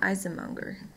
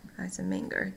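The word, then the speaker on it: Eisenmenger: has grown so big so we call Isom unger nice a minger depending on how you want to pronounce it and this usually happens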